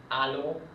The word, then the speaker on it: allô: And also, another example where you might see it with the A, it's usually when you answer the phone, it's allô, just makes it a longer A.